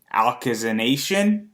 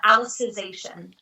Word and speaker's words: Alicization: latest SAO, which is, and you're going to probably correct me on this name, but it's Alkazanation. I want to say I'm the worst at pronouncing this, but you could correct me, and you were Renly Synthesis 27. Yes, and the show is called Alicization. I wasn't going to get